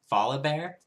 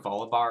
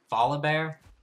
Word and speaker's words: Volibear: Volib Bear. I was calling him Volibar earlier. Volib Bear.